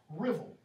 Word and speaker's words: Ruthwell: This is the southwest area of Scotland, spelled the Ruthwell cross, but it's pronounced Rivel, R-I-V-E-L, drivel without the D, okay?